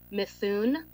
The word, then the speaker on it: Mithun: services agreement with the selected architectural design team, Mithun, is how you pronounce it, in an amount of $130,000 to